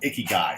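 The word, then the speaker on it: ikigai: share with you it's called Icky guy it's spelled i-k-i-g-a-i okay so I want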